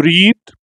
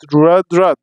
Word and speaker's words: read: عندنا أول فعل معانا كلمة يقرأ اسمه read، بس خلي بالك هي الكتابة واحدة زيها زي المضارع، بس النطق بيختلف. read.